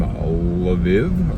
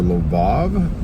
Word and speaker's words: Lviv: This conversation, this gentleman was from Lviv or Lvov, depending on how you want to pronounce it.